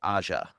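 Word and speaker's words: Aja: That's an Alexander A movie or however you pronounce his last name, right? Yep. We directed that. Alexandre Aza.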